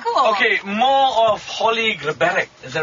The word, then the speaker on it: Grabarek: Grabarek, like G-R-A-B-A-R-E-K.